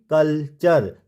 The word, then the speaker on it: culture: तो इन सभी वर्ड्स के लास्ट में क्या आ रहा है, URE आ रहा है, और उससे ठीक पहले टी आ रहा है। तो हमने यू को अर के रूप में पढ़ा, इसको हमने ना यू पढ़ा ना ओ पढ़ा ना अ के रूप में प्रोनाउंस किया, यहाँ पे हमने इसको